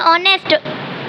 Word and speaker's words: honest: H is silent and he is honest.